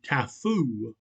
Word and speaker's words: taboo: They met with a positive proof of the existence of the taboo, or, as they pronounce it, the tafoo, for one woman fed another who was under that interdiction.